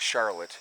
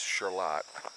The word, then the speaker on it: Charlotte: charlotte new york and not charlotte it's charlotte just so you know being clear um it's spelled the same different pronunciation figure that one out